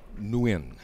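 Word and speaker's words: Nguyen: and win yeah yeah it's pronounced new in okay the end it's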